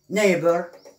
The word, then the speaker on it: neighbor: نأخذ مثال عندما لا ننطق بهذا GH، بهذين الحرفين GH، عندما يكونان صامتين silent. example night الليل، high مرتفع أو عالي، neighbor الجار.